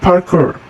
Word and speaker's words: Parkour: untuk melihat ya lalu Parker Parker eh sebutannya bacanya Parker Parker is an activity